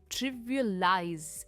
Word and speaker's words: trivialize: इसका verb form है trivialize। एंड में प्रोनाउंसिएशन ज में एंड होती है, trivialize.